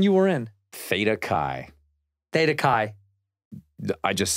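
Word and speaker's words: Theta Chi: was the one you were in feta Kai Theta Kai I just said it Theta Kai you're not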